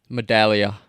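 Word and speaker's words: Medaglia: era and Tyler Vidalia metaglia I call him a dahlia Medallia silent G anyways now you sound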